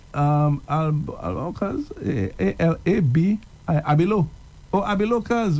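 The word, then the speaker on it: Abilow: So it's Abilo. Yeah. I thought it was Apilo. Okay, so it's Abilo. Yeah, spell it only A-B-I-L-O-W.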